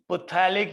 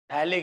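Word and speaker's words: phthalic: बच्चों benzoic acid में एक और एसिड लगा दें, डाई कार्बोक्सिलिक एसिड, तो इसे कहते हैं पुथैलिक या थैलिक एसिड। इसमें pH साइलेंट है, थैलिक एसिड है, ये बड़ा फेमस एसिड है।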